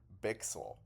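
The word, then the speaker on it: Bichsel: Sorry, I heard Bixel pronounce his name like that himself. So it turns out we're all getting his name wrong. It is Leon Bixel.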